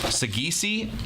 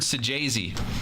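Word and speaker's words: Saggese: I pronounced it Sagisi because I know people who have that last name and pronounce it Sagisi. But the Cardinals fan said it's Sajazi. So, go figure.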